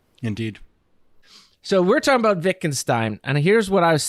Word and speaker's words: Wittgenstein: Matt would like to acknowledge that it is pronounced Wittgenstein, but yet he will choose to continue to call it him Wittgenstein.